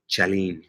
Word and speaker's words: Chalene: Chalene. Okay. I'll change that in my brain. I've been saying it wrong the whole time.